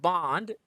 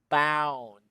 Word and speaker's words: bound: james bond b-o-n-d but it's not it's bound look at the mouth and you observe that the the lower the lower part of the teeth goes down bound wow next one it